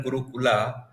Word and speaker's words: gurukul: is spelled this written guru kula because of some reason but we call it gurukul it is like ramayana and we call it ramayana so that's guruful and